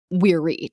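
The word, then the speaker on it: viri: calling themselves verse or as they would pronounce it weary technically v-i-r-i tangentially snakes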